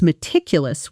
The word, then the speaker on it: meticulous: You can now say, "I was meticulous with the report." Notice the sound of it. Meticulous. The stress falls on the second syllable.